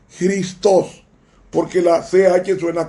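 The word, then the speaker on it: Χριστός: como un nombre propio cristo en griego se pronuncia cristos porque la acea que suena como gota es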